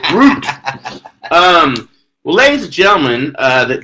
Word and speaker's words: Groot: and bring back the Grout mug. What Grout mug? I don't know what the crack talk. Oh, the Groot! It's spelled Groot. Groot.